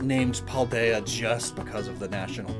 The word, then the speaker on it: Paldea: ahead of their time it's a really good paldea and it kind of rhymes with idea that's that's what i was getting at there but it's likely not named paul deya just because of the